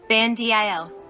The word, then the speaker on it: Bandil: Bandil. R. 59. Kan is pronounced aloud. Dil is pronounced with a low voice. 60. Ban is pronounced aloud. Dil is pronounced with a low voice.